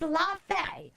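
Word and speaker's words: Laufey: It's It's Laf, it is spelled A L A U F E Y.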